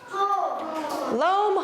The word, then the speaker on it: loam: and we call it loam it rhymes with home loam home they kind of have the same sound at the end so loam is when